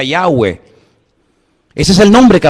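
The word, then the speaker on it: Yahvé: y he Bad he verdad ese nombre se pronuncia yahwe Ese es el nombre que aparece en el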